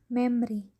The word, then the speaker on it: memory: The second, memory, when we read memory, the letter O is not pronounced, so we will read it memory, not memory.